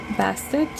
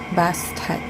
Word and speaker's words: Bastet: Okay, so we have in here Bastet. Let's see how it reads from the guidebook. Okay, so here we have Bastet, and it says in here, maybe known Bastet or Bast.